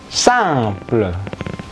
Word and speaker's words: simple: Simple. IM berbunyi ang juga ya, simple.